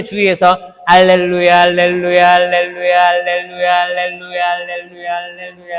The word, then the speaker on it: 할렐루야: 루 발음은 입술이 나와야 됩니다. 루. 뽀뽀. 뽀뽀 해 보셨어요? 입술 이렇게 하면서 루가 돼야 돼요. 루야. 자, 해 볼게요. 입술 발음에 주의해서 할렐루야.